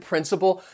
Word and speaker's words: principle: right now of course both words sound the same so they have three syllables the stress is on the first syllable that second and third syllable you'll hear that schwa sound principle principle so these words are